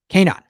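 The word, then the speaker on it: Kaenon: receive 15 off your first pair that's k9cast15 k9 clearly better and i'll put the link in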